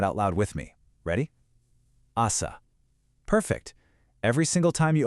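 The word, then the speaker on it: あさ: Actually, I want you to take a quick beat of silence right now to try pronouncing that out loud with me. Ready? Asa.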